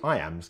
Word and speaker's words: iamb: The word iamb is pronounced just like the phrase I am.